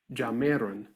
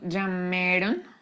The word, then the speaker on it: llamaron: Bien, pero tenemos que trabajar en la pronunciación. Okay. ¿Otra vez? So is it, mis papás llamaron por teléfono. Ojo, no sé si tú lo estás escuchando. Cody está diciendo llamaron, Mhm.